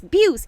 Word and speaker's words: Beus: name correctly Sandra because I'm always saying bows and she's like sandy it's Buse it's beus you gotta say Beus you goes underneath I said it right